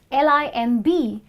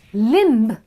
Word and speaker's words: limb: it for you okay when it's a combination of MB where M comes before B and B is at the end of a word then B is silent okay now if we